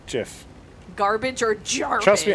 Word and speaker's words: GIF: I slowly turned your voice down as you were talking and trying to explain how you pronounce GIF wrong. It's soft G GIF.